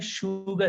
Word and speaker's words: sugar: 3-4 ही words हैं, एस होगा लेकिन इसको उच्चारण हम करेंगे श से। एग्जाम्पल देखो, ये क्या लिखा है? सुगर नहीं है, शुगर है।